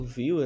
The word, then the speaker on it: Vue: A pronúncia é a mesma do VUE e do Viewer de visão, né?